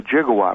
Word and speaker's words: gigawatt: the lightning who came up with the 1.21 gigawatts was that you or or was that b